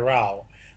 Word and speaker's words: row: concert program um but it means that you have an argument to have a rao but when it's a row of seats you pronounce it ro i don't know what